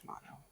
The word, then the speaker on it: Shimano: It's pronounced Shimano.